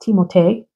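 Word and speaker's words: Timothée: that lead actor Timothy whose real name is pronounced teote French dad shalam Timothy shalam I mentioned that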